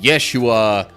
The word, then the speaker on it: Yeshua: might have been pronounced just like what we tend to think of as Joshua might have sometimes been pronounced Yeshua which is also like kind of a more accurate Hebrew pronunciation of the name we tend to refer to as Jesus but anyway same